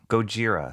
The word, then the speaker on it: Gojira: that speedball ink goira is the Japanese pronunciation of Godzilla oh okay same character Gojira so coffee but coffee